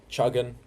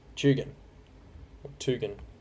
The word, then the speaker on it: Tugan: Still some strong winds around the Palm Beach area and north of Chuggan.